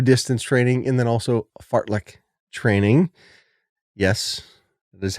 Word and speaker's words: Fartlek: General adaptation syndrome, LSD training or long, slow distance training, and then also Fartlek training. Yes, that is how you pronounce it.